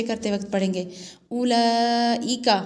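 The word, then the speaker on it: أولئك: उलाइका हमज़ा पेश उ, लाम खड़ा माद ज़बर ला, उला हमज़ा ज़ेर ई, उलाई काफ ज़बर का, उलाइका।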